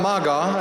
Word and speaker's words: Maga: the violin violinist zultan Maga and you have heard the name rightly it's spelled m a g a Maga I told him that